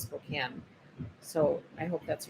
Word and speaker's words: Spokane: I've gotten a bunch of hello, Cindy from Spokane. Spokane. I've always heard it pronounced Spokane.